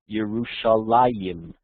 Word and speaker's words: Yerushalayim: in the singular foreign it's always pronounced yerushalayan with the extra unit as if that extra unit is always in there so this idea of yerushalayim like a plural yerushalim